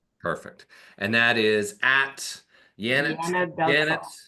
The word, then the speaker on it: Yanet: and that is at yanet Janet right pronounced Janet but with a Y right y a NE